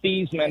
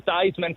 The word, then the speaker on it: Theismann: Joe Theismann, I didn't get to watch him, but the fact that he originally was Joe Theismann, but changed his pronunciation to Theismann for the Heisman Trophy is hilarious.